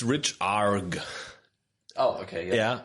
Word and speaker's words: rechargh: It's richarg.